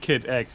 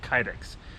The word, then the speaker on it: Kydex: Remember I told you guys about, well, I said Kid X and apparently it's pronounced Kydex. So I know him as Adrian.